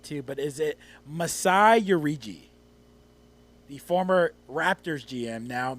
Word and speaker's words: Ujiri: Ujiri. Well, you should know. He's the GM of your team. Masai Ujiri. Masai Ujiri. Rhymes with cheery.